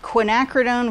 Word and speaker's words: quinacridone: This color is called Quinacridone Violet. And so you guys will likely hear all kinds of mispronunciations of that word, but it is quinacridone.